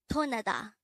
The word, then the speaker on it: 떠나다: This is pronounced as a three-syllable word. The first syllable is 떠, second syllable is 나, and the third syllable is 다.